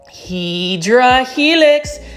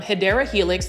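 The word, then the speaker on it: Hedera helix: And I always mispronounce Hedra Helix. That is the correct way to say it is actually um Hideera Helix.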